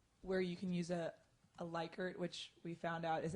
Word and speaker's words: Likert: then here's another where you can use a Likert which we found out is actually pronounced Likert scale we learned that this week which I'm still not comfortable saying so we're just gonna go with Likert so you can do the Likert scale so